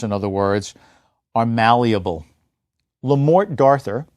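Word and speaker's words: Le Morte d'Arthur: other words are malleable lamort darthur as it's pronounced in English by Sir Thomas mallerie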